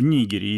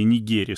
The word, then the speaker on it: Нигерии: недель военные переворот в Нигерии или Нигерии словари дают оба варианта ударения Хотя в России чаще